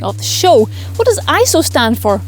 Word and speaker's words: ISO: It's actually an abbreviation of ISOS, which is Greek for equal. For this reason, it should actually be said ISO rather than ISO, but either way, everybody